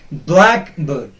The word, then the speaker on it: blackbird: Okay, and then the second word is blackbird. Blackbird. There are two syllables. This is a compound word, two parts. One is black, the other is bird. The first part will be stressed. Blackbird. Blackbird. It will not be pronounced as blackbird.